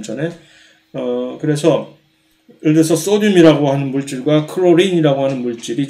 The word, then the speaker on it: 소듐: 둘 다 소듐이나 이제 이 클로린 염소, 소듐, 클로린 이것을 소듐이라고 이제 한 습관을 소듐이라고 발음하는 습관을 길러 주시기 바랍니다. 이것을 계속해서 나트륨이라고 배워왔던 지금은 아마 안 그럴지도 모르겠으나 벌써 이제